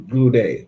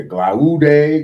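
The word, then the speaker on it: Glaude: Glue day. Okay. Yeah. Glue day. Glue day.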